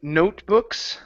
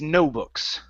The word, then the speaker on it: notebooks: okay so here um we need to fake that T it's going to be a stop T but what we can't say is no books okay because that means there weren't any books so when we say it it's note notebooks notebooks uhuh piit your tone